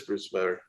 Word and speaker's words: Bruce Weber: It rhymes with truth never. Oh, okay, yeah. So it is Bruce Weber.